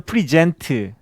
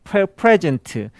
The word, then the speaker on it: present: 발음도 좀 달라요. 제공하다는 프리젠트, 현재 하면 프레젠트. 그래서 선물하면 프레젠트, 프레젠트 할 때는 앞에 강세가 있고 프리젠트 할 때는 뒤에가 강세가 있고 발음도 조금씩 다르죠.